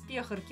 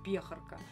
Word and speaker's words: пехорка: Да-да, вот из пехорки, ударение на букву «Е». Меня это, честно говоря, тогда немножко повеселило, когда я смотрела. До этого я никогда не слышала, чтобы кто-то так произносил это слово «пехорка». Всегда говорили только «пехорка».